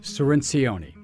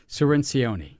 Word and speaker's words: Cirincione: Now, Joe, I got to get your pronunciation right. Joe Cirincione? Almost. Cirincione. There's a lot more Not syllables. Even close. Not more syllables than you think. But you got the C right. Cirincione.